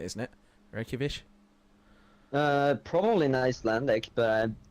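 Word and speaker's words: Reykjavík: I mean, it's a lot of people don't realize it's a ch on the end of Reykjavik. On the end of Reykjavik, it's a chi sound on it, isn't it? Reykjavik.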